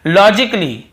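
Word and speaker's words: logically: रहा है और देखिए लॉजिकली लॉजिकली यहां पर भी ए को हम नहीं पढ़ रहे हैं फिर देखिए क्रिटिकली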